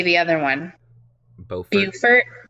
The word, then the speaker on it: Beaufort: Beaufort. Beaufort. I would say Beaufort, but Beaufort. Again, I'm not really a native, so I could be wrong on my Beaufort pronunciation.